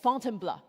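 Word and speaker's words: Fontainebleau: So after Paris, Paul took me just outside the city to a forest park for called Fountain Blur. This is how he taught me to pronounce to try out our mountain filter.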